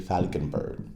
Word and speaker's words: Valckenberg: But this is the PJ Valckenberg. BJ Falkenberg. V is said like a F.